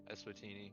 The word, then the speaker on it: Eswatini: Swatini. Swatini. Eswatini. Eswatini. That's what it is. You're really good at pronouncing.